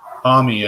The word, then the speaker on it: Homme: Homme, I think, is how he said it. Yeah, but it's like the French homme for man, you know?